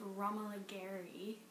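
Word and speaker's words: Romola Garai: BBC's Emma with Romola Gary. That's how you pronounce her name.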